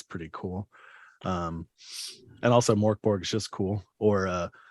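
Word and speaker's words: Mörk Borg: y but that's so in Swedish uh there is no real G it's it's pronounced more like a j and their J has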